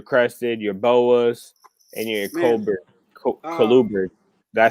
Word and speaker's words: colubrids: So what other things do you keep besides your gargoyles, your crested, your boas, and your colubrids? Did I say it right? Colubrids?